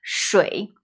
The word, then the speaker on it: 水: 便宜便宜 A rising tone, 便 And a neutral tone, 宜便宜便宜 Now, water is 水 Low tone, 水水水 and coffee.